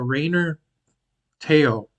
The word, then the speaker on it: Rayner Teo: video about this YouTuber that we found uh Raynor Teo is that how you pronounce it yeah yeah he's a very popular